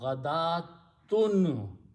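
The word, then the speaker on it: غدوة: are there, except that Waw is not being pronounced, only sound of alif. So ghadatun is the word.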